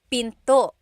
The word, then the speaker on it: pinto: Door in Tagalog is pinto pinto. And remember, don't forget the glottle stop.